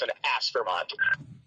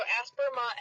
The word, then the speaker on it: Aspermont: Aspermont. Okay. So, Aspermont has three syllables. It's Asper. As Vermont.